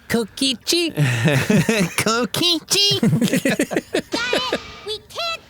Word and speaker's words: Kokichi: It's pronounced Kokichi.